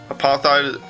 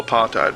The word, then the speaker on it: apartheid: Really? That's how you say it? Apartheid? Apart, hate, basically.